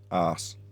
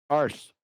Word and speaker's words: arse: It's arse. Arse. No, arse, not arse. You don't roll the R.